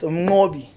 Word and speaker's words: Mnqobi: almost Mnqobi.